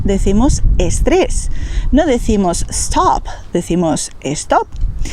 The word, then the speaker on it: estrés: D y G y la letra S al principio de palabra sin una vocal delante.